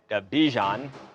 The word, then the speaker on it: Bijan: And, well, I didn't know that Bijan, which rhymes with Dijon, he's got his own mustard.